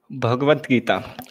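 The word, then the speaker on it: Bhagavad Gita: around and tell us what the book is bhagavad-gita okay this is a bhagavad-gita it is a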